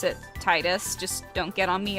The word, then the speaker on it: Tidus: if you pronounce it Titus just don't get on me about it for pronouncing it the uh the right way no prob so uh it it comes from the Okinawan dialect meaning sun and Yuna is Moon